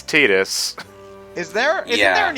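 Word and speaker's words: Tidus: and Kingdom Hearts 2 said Titus when it's tetus is there isn't there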